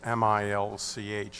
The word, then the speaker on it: Milch: name is milch m-i-l-c-h and it is pronounced milch awesome the address is